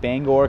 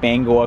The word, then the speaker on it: Bangor: the system is called Bangor Community Connector but I feel like you can't say it like that you have to say it like Bangor Community Connector actually we're kind of